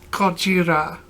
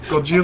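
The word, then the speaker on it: ゴジラ: Gojira. What was it? Gojira. It's the Japanese pronunciation for Godzilla.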